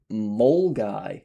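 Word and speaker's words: Milngavie: or milling gave, but it's actually Moly apparently. And it's a nice little quaint town in Scotland. So, you do not pronounce you do not pronounce the V in MGY.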